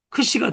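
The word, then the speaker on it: ξ: 두 번 돌리고 꺾어주면 크시가 돼요. 크시. 이 글자를 잘 눈여겨보고 요 글자는 이중자음이다라는 거 기억하셔야 돼요. 왜냐? 키어가고 시옷 두 개의 발음이 들어있어요. 이 안에는.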